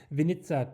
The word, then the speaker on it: Winnica: Polish wine estate today, Winnica Turnau, their Solaris 2023. So it's Winnica, as I learned from a Polish contact. I always said Winnica.